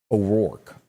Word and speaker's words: O'Rourke: this 200 percent yeah o'rourke that's how you say it okay but is it beto